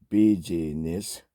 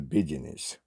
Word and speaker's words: business: That is partly because we pronounce it not busyness, but the business.